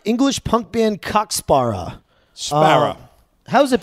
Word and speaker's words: Cock Sparrer: A lot of Americans think it's COCK SPARRER, as in sparring. Yes, that's how I think. But no, nothing to do with that.